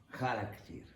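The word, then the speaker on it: χαρακτήρ: Charakter, em grego. Novamente, um problema disléxico dos latinos. Eles não conseguiam pronunciar essa consoante, o r. Em grego não é ra, é r. É aqui no céu da boca.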